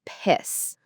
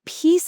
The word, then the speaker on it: piece: So when you're talking about, say, a piece of cake or a piece of paper, you're looking for that long E sound again. It's actually the exact same vowel sound as the word peace, like inner peace.